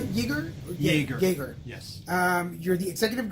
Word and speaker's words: Yaeger: Yes, and is that how you pronounce it? Yaeger? Yaeger.